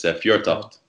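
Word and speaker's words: Fjørtoft: It has a bit of an unfamiliar letter in it, but it's Fjortoft.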